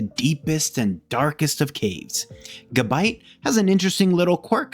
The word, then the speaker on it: Gabite: and a massive mouth gabit and yes that's how you say it I just looked on